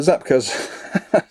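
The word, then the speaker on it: czapkas: actually just tells you how to pronounce it so yeah uh zap cuz and uh yeah um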